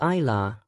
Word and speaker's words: Isla: Isla, pronounced eye law, means devoted to God, while Marie is a family name that means wished for child and beloved.